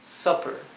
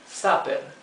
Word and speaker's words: supper: Fíjense que en verde lo he escrito en español supper. Sin embargo, la U en inglés no se pronuncia como una A española exactamente, es más bien ¿verdad?